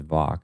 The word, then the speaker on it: Vach: think I've shared before, my last name is Vach, V as in Victor, ACH. That's how it's pronounced.